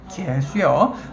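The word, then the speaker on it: 계수: 발음 조심하세요. 개수입니다. 개수요.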